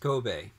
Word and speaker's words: Kobe: Kobe is a city in Japan. I lived there. Pronounced Kobe.